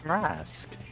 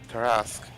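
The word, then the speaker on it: Tarrasque: Wait, is this the ter uh your the terraque that great I don't remember how to pronounce it. Yep. Yeah. Terrasque. Terrasque.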